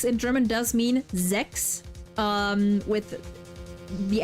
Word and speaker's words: sechs: Yeah, and it's also it's spelled with an S, but it's pronounced like a Z, so sechs.